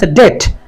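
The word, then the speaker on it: debt: অর্থাৎ beta silent থাকল এখানে আছে অনেকে এটাকে ডে বলবে আসলে ডে না এটা ডেট এখানে বিটা সাইলেন্ট থাকবে তার কারণ বিটি পাশাপাশি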